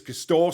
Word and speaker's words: Castore: Now, I was put right after yesterday's show that the correct way to say it is Castore, so we'll go with that from now on.